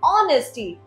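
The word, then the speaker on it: honesty: हैं ऑनेस्टी नॉट नेस्टी इसका spelling है एच ओ एन ई एस टी वाई ऑनेस्टी बट इसके अंदर जो हमारा एच है वो साइलेंट है वो हम नहीं बोलते वो कंपलीटली साइलेंट है लाइक द नेक्स्ट वन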